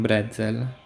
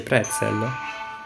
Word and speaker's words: pretzel: E poi un brezel. Non si scrive con la P. Forse il brezel è di differente. Ah, si dice pretzel.